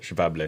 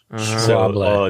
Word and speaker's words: Schwalbe: it was like Schwable. Yeah. No, it's like Schwa. Schwa. The SCHW that makes like a V sound. Schwable.